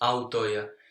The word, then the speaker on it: autoja: So instead of having the three vowels there together, the I changes to J. Autoja. Autoja. Autoja. Even if you try to pronounce it with an I, it sounds a little bit like J. Autoja.